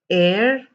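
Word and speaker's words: heir: it was honor honest air herbal you do not pronounce the h over here at all the h over here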